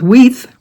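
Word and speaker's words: Weicht: She said to pronounce it like teeth. So I'm hoping I'm doing it right with Weith.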